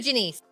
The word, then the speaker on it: Jenise: I am so happy that everybody got to meet you, Jenise. I'm so Jenise glad. rhymes with Denny's, but not.